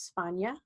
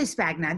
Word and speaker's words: Spagna: It's Spana. And I Oh, no. You can say Spagna.